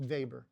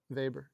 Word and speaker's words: Weber: He was German, so his last name would have been pronounced Vber. They don't they don't have W's. Their W's are pronounced V's. Vber.